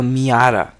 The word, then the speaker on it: Miata: took him 20 nanometre it's called a Miata what are these foreign non-american people pronounce it car names wrong and you do that